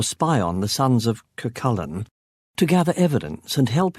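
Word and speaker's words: Cú Chulainn: It's pronounced Kakullen, not Kushkin, I said with a smug grin.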